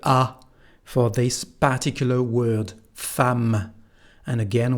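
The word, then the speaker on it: femme: for this particular word fam and again we don't pronounce the final e fam and that's all what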